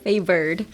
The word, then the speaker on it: favored: Favored.